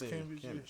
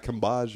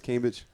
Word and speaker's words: Cambage: Yes, Cambage. It's not Cambage or nothing like that. It's Cambage. Her OnlyFans?